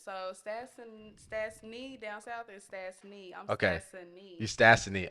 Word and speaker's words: Stasseny: So Stasseny down south is Stasseny. I'm Okay. Stasseny. You Stasseny. Okay, Okay, bad. 3 syllables, not 2. Gotcha. That's what I remember. Yeah. E-N-Y, not N-E-Y.